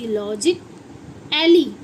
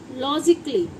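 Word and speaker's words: logically: ये तो बना LOGIC, लॉजिक एली। आप लॉजिक एली पढ़ेंगे या लॉजिक अली पढ़ेंगे? नहीं, हम इसे क्या पढ़ रहे हैं? लॉजिकली। इसमें आ जो है साइलेंट होगा, ना तो ए की वॉइस निकालेगा, ना ए की, ना अ।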